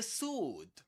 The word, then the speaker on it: sword: The sword. Again, no W. Not sword. Sword. It's sword. Sword. Only sword.